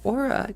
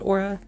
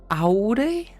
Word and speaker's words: Aurae: in their language um usually I just say Aura because I feel like that is the easiest for other people to pronounce and it's the easiest